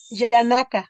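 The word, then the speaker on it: Janaka: Yanaka. Yanaka. Yanaka. J-N-A-K-A. Yanaka. Gracias, Yanaka. maestro Krishna. Sí, Gracias. tiene que pronunciar bien porque nos confunde a todos.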